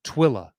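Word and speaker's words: Tooele: well lately um and he says it's pronounced twilla so he's from coming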